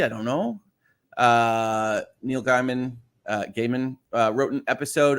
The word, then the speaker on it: Gaiman: how that goes uh it's pronounced gaiman it's how he says it fair enough ai is